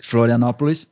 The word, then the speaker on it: Florianópolis: We went to, how I pronounce Florianópolis? Florianópolis.